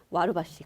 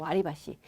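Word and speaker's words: 割り箸: 와루바시. 그쵸? 우리는 와루바시 이렇게 외우잖아요. 그쵸? 근데 정확한 발음은 와리바시예요, 여러분. 와리바시.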